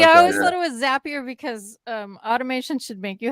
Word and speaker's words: Zapier: Well, they call them Zaps, so it's probably Zapier.